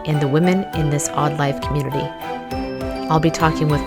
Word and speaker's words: AWEd Life: Hi, I'm Hallie, and I'm here to welcome you to The Odd Life. That's spelled A-W-E-D, which stands for awake, well, and empowered.